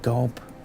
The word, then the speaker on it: Gob: I was hoping it would be pronounced Job Alla Arrested Development. Sadly not. But Gob uh was enslaved by